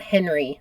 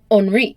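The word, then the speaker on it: Henri: pronunciation I would just like to say I pronounced it HRI not Henry like I would if I was American so it's Henry but in France it's onri Duke of Oro and you said Oro very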